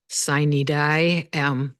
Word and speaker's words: sine die: order to have what they call sine die, which is not the Latin pronunciation, but that's the end of session.